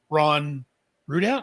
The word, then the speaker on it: Ron Rudat: I love the fact that he's named after Ron Rudat. Am I pronouncing that right?